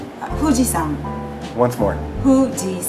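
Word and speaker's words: 富士: what do you say huji once more Hui right huji hu s right but we pronounce it with an F in English yeah fujian fujian okay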